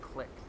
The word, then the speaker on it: clique: It's pronounced click.